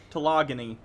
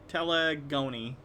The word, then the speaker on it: telegony: Telogony. That is not how you pronounce it. Telegony. No. Telegony. Yes. Telegony.